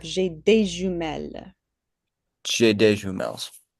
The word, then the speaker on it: jumelles: J'ai des jumelles. So with the S on jumelle, we don't pronounce that.